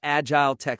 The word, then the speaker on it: Agiletek: And just to get it out of the way, right at the top, it's pronounced agile tech solutions.